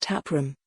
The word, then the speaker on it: TapRm: founder and CEO of tap RM pronounced taproom says it's time for